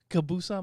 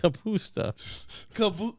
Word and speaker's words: kapusta: That's how you say kabusa my kielbasa? Kapusta. Kielbusta? It's a P.